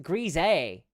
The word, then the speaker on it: Grazil: Command Line Cody says, Grazil is pronounced grise. Grise. Like greasy. Like greasy.